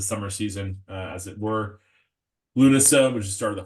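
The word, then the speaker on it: Lúnasa: the Dingle folks, I kept on calling this one Lunesta, which is definitely not correct. So finally I've gotten it online with Lunasa is how you say that.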